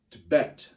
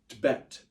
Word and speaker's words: Tibet: goes once man Tibet Tibet you almost whisper the tip and you say bet loud Tibet can everyone say that